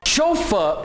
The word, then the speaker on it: chauffeur: और ये भी फ्रेंच वर्ड है.